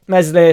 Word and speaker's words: Meslier: So the squad will be Darlow as your backup, Meslier, Silent S as your keeper.